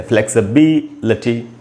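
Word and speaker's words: flexibility: तो आप देख रहे हैं फ्लेक्स, स के बाद आधा अ है यानी स पर थोड़ा सा रुकना है। फ्लेक्स, बी को मैंने अंडरलाइन किया यानी यहीं पर स्ट्रेस है, फ्लेक्सिबिलिटी।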